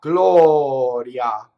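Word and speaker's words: gloria: So it means I go to the E position, but I don't really say the vowel. If I were to do ia, Glɔria, and you see it's that fast, right? So it's a semivowel.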